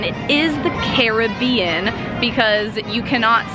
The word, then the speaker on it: Caribbean: the different dialect there so in fact it is not right if you say Caribbean it is correct if you say Caribbean because they are the Caribes not The Cribs I